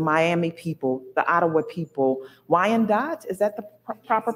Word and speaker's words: Wyandot: Lenape people, the Miami people, the Ottawa people, Wyandot, is that the proper pronunciation?